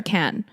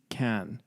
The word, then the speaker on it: Cannes: Is it Cannes or Cannes? I think it's Cannes. Right? In French. Yeah. Because I don't think they pronounced the ES.